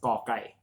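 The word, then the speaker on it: ก ไก่: This one is ka without the H, without any air coming out of your mouth when you pronounce this letter, when you sound this letter. That's ka kai.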